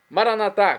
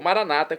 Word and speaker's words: Maranata: Maranatá, como dizemos nós católicos, ou Maranata, como dizem nossos irmãos separados, os evangélicos ou protestantes. Não importa a pronúncia, o significado é o mesmo.